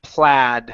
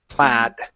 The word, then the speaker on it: plaid: is a funny word even though it looks like it should be played okay this word is actually plaid so that's a short a sound here in the middle plaid plaid good so uh a